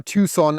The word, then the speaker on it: Tucson: Right here we have our Tucson, and I'm not even sure, do you say Tucson or Tucson?